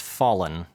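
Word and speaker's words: Follin: by tim and jeff folen although it may be pronounced fallen it's kind of spelt like follicle so as soon as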